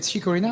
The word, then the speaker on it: Chicorina: Chicorina, how do you say it? Chicorina? You got it, yeah.